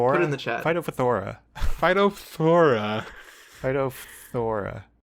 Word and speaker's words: Phytophthora: That's not pronounceable. Put it in the thing. Put it in the chat. Phytophthora. Phytophthora infestans, which is a much easier thing to say.